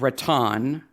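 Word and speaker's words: Raton: town in new mexico called rattan that's how i'm going to pronounce it r-a-t-o-n new mexico it is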